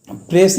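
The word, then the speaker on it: précis: एस इसमें silent रहेगा, S will be silent hair and the right pronunciation is प्रेसी।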